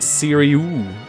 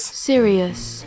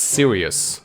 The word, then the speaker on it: Sirius: Sirius. So, to my knowledge, it's Sirius, as in, why so serious?